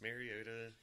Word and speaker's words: Mariota: But you like Marcus Mariota. I do. And there's Jared Goff, too. Soda. Huh? Because his name kind of rhymes with cherry soda. It does. It doesn't kind of. It does. Marcus Mariota, cherry soda.